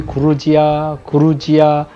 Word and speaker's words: Georgia: 조지아는 많은 분들이 그루지아, 조지아 어떤 이름이 맞는지 궁금해하시고 물어보시는 분들이 계신데요. 러시아식 발음으로는 그루지아입니다. 그리고 이거를 한국 분들이 그냥 쉽게 얘기했을 때 그루지아 이렇게 불렀었는데 그루지아야라는 거를 영어식 표현으로 돌리면 바로 조지아입니다.